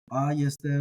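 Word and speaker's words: αἰ ἄγεσθε: They have this kind of symmetrical or balanced acoustic thing going on there, but ayeste ukeste. Even the stress falls on the first syllable ayeste, and then on the last syllable ukeste.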